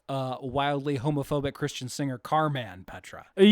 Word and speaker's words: Carman: And if you're wondering why I'm saying it Carman instead of Carmen, it's because that's how it's spelled. C A R M- an Carman.